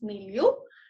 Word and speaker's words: milieu: I don't know let me check the correct pronunciation of the word. I think it's milieu. Yeah, it's milieu.